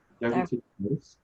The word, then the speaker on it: diverticulitis: Diverticulitis? Diverticulosis is the pouches, and then the other one is what? Diverticulitis. So just itis at the end.